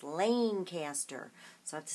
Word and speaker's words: Lancaster: Or she told me it's not pronounced Lancaster, it's pronounced Lancaster.